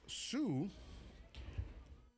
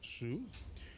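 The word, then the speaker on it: Hsieh: Ying-Chen Su, spelled H-S-I-E-H, and I believe that is pronounced Su, or she.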